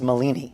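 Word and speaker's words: Malini: magician yourself um is max molini which name his name rhymes with houdini so it has a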